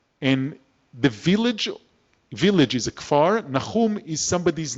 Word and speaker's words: Kfar Nahum: It's Kfar. Do you want to try and say it? Kfar Nahum. You need a ch, Nahum.